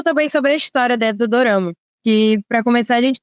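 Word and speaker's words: ドラマ: curiosidade só para acrescentar é que Dorama na verdade é a pronúncia de drama no Japão Dorama na Coreia tirama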